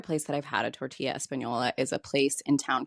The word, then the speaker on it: tortilla Española: which makes the ease of preparing Trader Joe's tortilla Española Yes, that's how it's pronounced, all the more impressive.